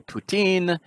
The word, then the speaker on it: Putin: thing here and yeah i'm pronouncing putin because that's how the russians pronounce it because i have